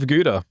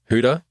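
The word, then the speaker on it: Gouda: And um just because I'm Dutch, I freaking love Guda. Oh, yeah. Huda. Yeah. Cheese. You got to do the throat noise.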